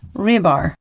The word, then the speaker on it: Rybar: it has been brought to my attention that Russian mercenary mill blogger Rybar is actually pronounced Rybar.